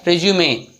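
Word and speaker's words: résumé: It's a resume, okay, should not use resume. Resume means restart. If we start anything again, we can use resume. So resume is the correct pronunciation for applying for any job.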